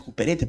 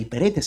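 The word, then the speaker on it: ὑπηρέτης: Y esta palabra servidores es hiperetes en el griego, algunos lo pronuncian cuperetes, pero hiperetes en el griego.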